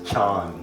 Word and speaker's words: Chan: As Buddhism went from India to China, the word dhyan became pronounced as chan. As it traveled to Japan, it further got mispronounced into Zen.